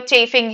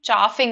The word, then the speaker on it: chaffing: So his friends were chafing him or his chafing friends. So no, it's pronounced as chaffing, I think. Chaffing, not chafing.